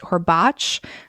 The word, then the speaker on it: Horbacz: It's actually supposed to be pronounced Horbacz, but no one in his family pronounces it right.